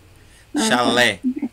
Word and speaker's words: chalé: Café tem duas sílabas. E café é oxítona. Entendeu? Chalé é oxítona. Chulé é oxítona.